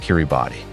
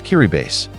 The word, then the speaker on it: Kiribati: And no, it's not pronounced Kiribati. It's Kiribass.